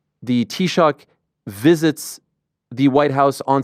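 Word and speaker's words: Taoiseach: Historically, um and and and how do you pronounce the the prime minister's name title in uh in Gaelic? It's it's Tshock.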